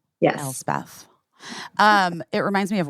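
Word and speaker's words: Elsbeth: No One Ever Knows correctly busy you okay El Beth yes El Beth um it reminds me of West Beth which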